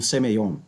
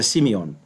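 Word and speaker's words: σημεῖον: no livro de Apocalipse, que é Simeion. Simion, né? Então, é traduzido, é geralmente pronunciada como semeion, né, pela, pelas pessoas que não conhecem a fonética grega, mas é semion.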